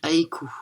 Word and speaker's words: haïku: u S et je pense que ça se prononce Aiku. Ça se dit Aiku.